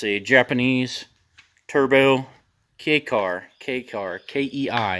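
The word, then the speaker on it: kei: It's a Japanese turbo K-car, K-E-I. A lot of people pronounce it wrong, saying key. But it's K, it's a K car, K-E-I.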